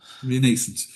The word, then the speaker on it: Renascent: And other volumes include how Joyce wrote Finnegan's Wake in 2007, Rain Ascent, Joyce. I never get to pronounce that correctly. Help me out there, Sam. How would you pronounce it? Renascent.